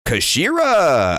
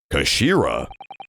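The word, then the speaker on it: 頭: and nothing was happening it's written as head in Japanese but it's pronounced as Kashira I believe Kashira so Mr asogi's words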